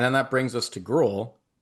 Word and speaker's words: Groulx: And then that brings us to Groulx. How are we pronouncing this, by the way? I think it's Groulx. I don't think Okay. I don't think the L is being said. Okay. Groulx.